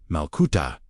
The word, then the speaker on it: malkuta: The key word in today's teaching is Malkuta, pronounced Malkuta, Aish, meaning kingdom.